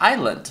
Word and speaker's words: Island: Não tem gente que fala Iceland, né? Mas é Island, você não pronuncia o S, é só Island.